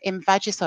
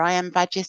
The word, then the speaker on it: Imvaggis: There's you know um invagis or I am vagis depending on how you say it.